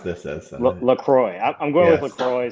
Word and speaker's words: LaCroix: LaCroix. I'm going with Yes. LaCroix. Some people pronounce it way more French than I do. Maria, do you have a preferred pronunciation of the sparkling beverage? LaCroix.